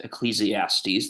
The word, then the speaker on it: Ecclesiastes: Ecclesiastes, that's how you pronounce that.